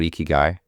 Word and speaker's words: ikigai: Can you tell me about ikigai? Am I pronouncing that right?